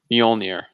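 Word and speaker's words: Mjölnir: page of thor and i used bjork and fjord as my reference points for how to pronounce mjolnir oh so you're an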